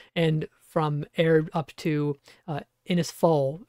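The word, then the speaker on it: Innisfail: from air up to inis fall or inis fail I think is how you say that Cyclone watch in place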